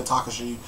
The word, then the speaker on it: Takashi: a couple we have Takashi or tekashi depending on how you pronounce it I say Takashi we have Takashi and